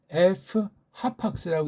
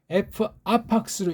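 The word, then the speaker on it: ἐφάπαξ: 그래서 아까 제가 F 하팍스라고 읽었던 거예요. 그렇게 읽는 게 정확한 거예요. 그냥 F 하팍스, F 아팍스로 읽으면 안 되고 F 하팍스, 그렇죠?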